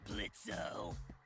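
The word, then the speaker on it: Blitzø: it hey man sure blitzo the O is silent now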